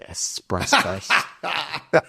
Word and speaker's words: espresso: Although I will say I do enjoy my espresso and that's how you pronounce it.